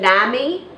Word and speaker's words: NAMI: of her um pathological extreme how do you pronounce the name of the organization Nami no I say Nami but Nami Nami is